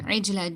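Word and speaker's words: عِجْلًا: Jim, you need to do kalkala here. You need to do kalkala here. Okay, I told you a bouncing sound. So you need to do a bouncing sound here. See, Jim.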